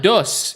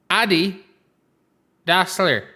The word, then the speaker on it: Adi Dassler: It's not Dus either. Adi Dassler.